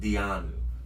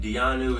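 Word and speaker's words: Diyanu: brand called Dianu.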